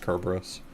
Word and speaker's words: Kerberos: I mean, usually in English people will pronounce it Cerberus, but the Greek name for Cerberus is with a hard K sound.